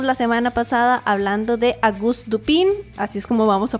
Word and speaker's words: Auguste Dupin: Empezamos la semana pasada hablando de Auguste Dupin, así es como vamos a pronunciarlo, de el escritor estadounidense Edgar Allan Poe,